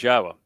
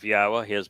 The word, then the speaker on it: Yahweh: to pronounce yahweh's name it's the uh yah and the ah are from the verb haa and the o sound comes from Torah so this is not